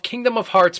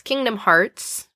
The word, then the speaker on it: Kingdom Hearts: its new line of Kingdom of Hearts Pops featuring Pete, Donald, Goofy, and Mickey Mouse. I think you pronounced that wrong. It's Kingdom Hearts, because that other thing doesn't exist.